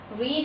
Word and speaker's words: read: Read is first form, second form is read, and third form is read. The pronunciation will become different in second and third form, but the spelling will remain same.